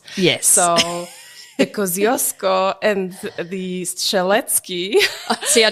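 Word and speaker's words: Kościuszko: Australians pronounce those names kushko is the proper pronunciation of the Kosco Mountain and staly was the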